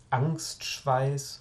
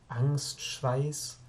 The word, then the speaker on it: Angstschweiß: Angstschweiß, no parece al decirla, solamente son dos sílabas y tiene una sonoridad bastante suave. Angstschweiß.